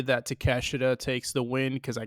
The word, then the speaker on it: Takeshita: How do you pronounce his first name? Konosuke Takeshita? Yeah, Takeshita. Yeah, it's just Takeshita.